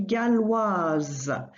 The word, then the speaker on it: galloise: So same thing here, add an I at the end of the feminine, and that makes you sound the S that comes before it.